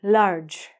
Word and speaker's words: large: This word, large. Large, as I told you, the E is silent.